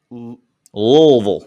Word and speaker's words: Louisville: back to this game it's louisville y'all like louisville louisville i believe that's how they say it good team good coach